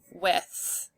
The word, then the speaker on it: with: With is this word, and it ends in a digraph. With. So we need to remember that by heart.